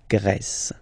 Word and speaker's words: Grèce: And the first one, la Grèce. La Grèce. Okay, so remember gr, gr. And then this accent grave like that, open. Grèce.